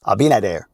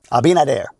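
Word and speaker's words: Abinader: Abinad. I always say his name wrong. Abinadair.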